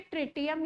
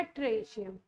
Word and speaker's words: ट्रिटियम: और 1H3 को बोलते हैं ट्रिटियम या ट्रेशियम, ट्राइटियम भी बोलते हैं, ट्राइशियम भी प्रोनाउंस।